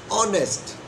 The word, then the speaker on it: honest: Honest begins with H, but because the word is not pronounced honest, it is pronounced honest. So it is pronounced like O. This is the reason she is an honest girl.